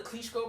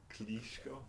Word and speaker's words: Klitschko: didn't I kichko kichko it's Klitschko it's kichko Vladimir Klitschko kichko Klitschko kitko I don't want to go too long on this because we I think it's but like maybe how how do you say like uh ESP Vladimir Klitschko you're not you're not you're saying it with your American accent I say it with his accent kitko Moving On The Punisher